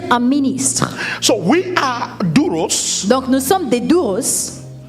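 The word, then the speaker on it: δοῦλος: Servant, children of God, Serviteur, enfant de Dieu, it's a borrowed word from Greek, c'est un mot qui vient du grec, which is pronounced douros.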